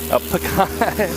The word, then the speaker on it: pecan: Pecan.